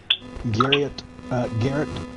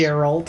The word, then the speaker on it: Geralt: Garrett, however you say his name, of Rivia from the Witcher series. Oh, Geralt of Rivia.